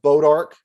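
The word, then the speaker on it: bois d'arc: there and it's called bodark goodbye but it's it's spelled it's bodark is the french name but it's spelled b o i s d apostrophe arc it's it's means wood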